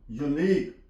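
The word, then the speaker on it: unique: यू के बाद ई आ गया है you silent यूनिक यू एन आई क यूई यहां प टेक्नीक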